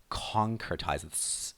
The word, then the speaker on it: concretize: making these Revelations real concertized with the stress on the first part so it's a formless